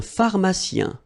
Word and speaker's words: pharmacien: Un pharmacien. So remember, P-H, so these combination of these two letters will produce the F sound.